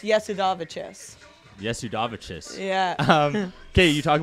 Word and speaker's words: Jasudavicius: of stuff and then so my we say jazz davisius because i live in canada but it's actually pronounced yes yes udavichis yeah um okay you talk about moving forward